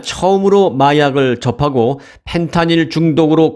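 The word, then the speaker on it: fentanyl: 펜타닐이라고 발음을 했습니다만 사실 미국에서는 F로 이 발음을 해주세요. 정식 명칭은 펜타닐입니다. 펜타닐.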